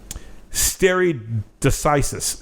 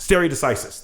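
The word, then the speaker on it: stare decisis: I where did my note go for it stere decisis stere decisis there we go stere decisis stere decisis this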